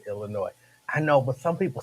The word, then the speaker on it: Illinois: don't touch me um there is no s sound at the end of Illinois I know but some